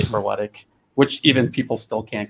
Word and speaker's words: Berletic: the C in your name sounds like a ch. Well, it's ordinarily it's Berletic, but the proper Croatian pronunciation is Berlech.